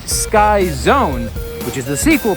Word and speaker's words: Sky: The first one is called Sky. I know it's spelled like ski, but it's pronounced Sky.